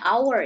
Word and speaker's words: hour: Bacanya hour ya. Hour, H-nya tidak dibaca.